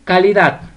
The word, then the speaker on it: calidad: Vamos con calidad. Calidad. La sílaba tónica es dat.